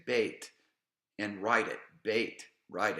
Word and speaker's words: Bet: Then and now you're putting the dot in the middle of it. Bait each time. Bait. And of course, I didn't do that because I had some challenges with this multimedia presentation of actually putting a dot in the consonants. So just write it out. Bait, put your dot in it.